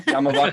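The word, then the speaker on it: Yaamava': Yamava Casino.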